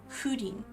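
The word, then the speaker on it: Húrin: It just because there's pronunciation guides like if you read the children of Hudin, there's a pronunciation guide right at the beginning of the book that tells you it's Hudin.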